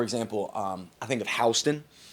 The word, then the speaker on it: Houston: If you're in areas like for example um I think of Hston pronounced Houston I understand but we say Hston because we're not allowed to say Houston uh is in between Milford and Harrington.